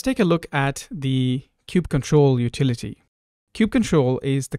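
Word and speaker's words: kubectl: it differently some say Cube CTL others say Cube control some say Cube cuddle others say Cube cuddle the canonical pronunciation is Cube control so I'll try and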